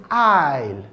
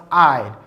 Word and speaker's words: aisle: The word is aisle, aisle. When someone walks down the aisle, that means a walkway in a church. It is pronounced aisle.